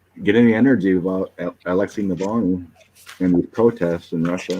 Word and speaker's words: Alexei Navalny: Alexei Navalny.